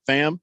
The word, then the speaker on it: Pham: something go and now they're suspended uh tony pham uh did i say his name right fam it's spelled p-h-a-m yeah fam tommy fan uh tommy